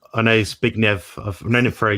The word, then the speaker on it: Zbigniew: I know Zbigniew. I've known him for a year now. So it's Zbigniew Warzenek. You won't get it first time, but he's a great guy.